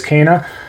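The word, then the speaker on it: Kena: super super difficult um number two being kana k-e-n-a i know some of those out there pronounces kina or something but it is kana um what a great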